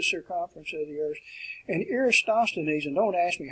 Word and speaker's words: Eratosthenes: plane and spherical trigonometry, Eratosthenes, work on your pronunciation, Eratosthenes, who calculated the Earth's circumference.